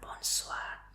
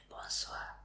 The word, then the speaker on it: bonsoir: Y sería bonsoir.